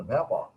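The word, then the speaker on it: vapour: ইভাপোরেট বলতে বাষ্পায়িত হওয়া, ভ্যাপর সঠিক উচ্চারণ ভ্যাপর, আমরা ব্রিটিশ উচ্চারণ করি সেদিকে আমরা যাচ্ছি না।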